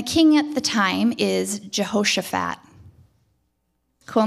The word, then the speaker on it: Jehoshaphat: So Jehoshaphat is the king, and he hears, Jason told me I wasn't saying it right. Jehoshaphat. Oh, yeah, I just got it. Yeah, Jehoshaphat, sorry. It's a little bit more like Josh. Maybe that's where Josh came from.